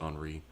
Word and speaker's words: Henry: This is Henry, I'm guessing, because it's French, and Henry is pronounced Henri.